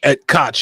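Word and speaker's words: Ed Koch: Uh that's uh and then and uh apparently I guess Ed Cot Ed Cotch, is that how you pronounce his name? Yeah. Right. Ed Cotch. Ed Cotch. Yeah. Yeah, that's how you pronounce him.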